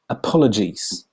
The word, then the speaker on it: apologies: noun please accept my apologies because the word apologies looks very similar to apologize some people pronounce apologies the way they would pronounce apologize do you know what